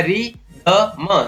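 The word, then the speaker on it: rhythm: इसी प्रकार री, RY री, द म रिदम, इसमें भी H का उच्चारण नहीं होता है।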